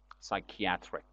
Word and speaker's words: psychiatric: diseases mental illnesses psychiatric pay attention to the pronunciation of the word psychiatric is adjective the noun is uh psychiatry psychiatry the person is psychiatrist psychiatrist just the adjective has got kind of different uh pronunciation psychiatric and also a volcano